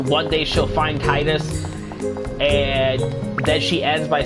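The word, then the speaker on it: Tidus: - if you don't know how the correct pronunciation is Titus comes on the tie no like he is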